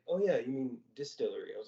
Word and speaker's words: DSTLRY: about a new Comics company called Distillery um it's spelled very oddly it feels like the